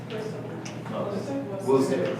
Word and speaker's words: Worcester: Worcester, yeah, which is not like it's spelled, and Essex County.